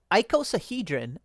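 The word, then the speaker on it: icosahedron: Okay, so it's icosahhedrin. So, I should have just sounded it out.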